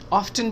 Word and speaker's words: often: Often, often भी कैसे हैं? It's okay, often या often दोनों सही है pronunciation.